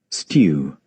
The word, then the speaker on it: stew: to the stew and this word stew this word is pronounced just just so you is pronounced in British English as stew. Stew. But in American English, it's pronounced as stew.